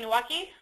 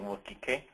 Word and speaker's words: Nwokike: Nwaki? Yes, my name is Nwokike.